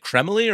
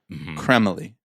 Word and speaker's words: Cremily: So, I have to imagine that it's they're going for a little bit of like a French pronunciation. Kremily.